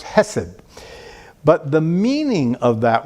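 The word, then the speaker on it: חֶסֶד: It's pronounced hesed.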